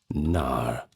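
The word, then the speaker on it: knarr: Now, they were called NAR, and that's spelled K N A R in contrast to the lean warships.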